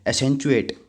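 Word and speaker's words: accentuate: अब एक काम करना जैसे लिख रखा है ना वैसे याद करना उसकी प्रोनाउंस में मत जाना नहीं तो स्पेलिंग में मिस्टेक हो जाएगी आपसे तो एेंट एट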